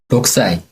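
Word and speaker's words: 6歳: 그 다음에 6이 붙으면 우리는 로쿠사이라고 표기는 하시지만 발음 법칙상 쿠 뒤에 사행이 오면 K가 묵음 처리가 됩니다. 그래서 발음이 어떻게 되는지 한번 들어보겠습니다. 6살 어떻게 될까요? 6 歳 네, 그럼 16살은?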